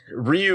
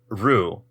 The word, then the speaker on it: Ryu: it's word for Dragon so it's not Rou because you do need the Y and that's why it's there but it because the